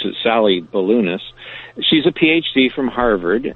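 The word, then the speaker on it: Sallie Baliunas: Sally Balunis, that's how you spell it, but you actually pronounce it Sally Balunis.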